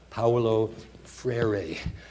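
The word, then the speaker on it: Paulo Freire: of ways tonight but it's roughly speaking uh Pao FR um thank you um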